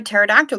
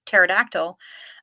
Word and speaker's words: pterodactyl: Why can't you hear a pterodactyl going to the bathroom? Because the P is silent. That is beautiful, and it reminds me of the song because every time I hear the word pterodactyl, I am reminded of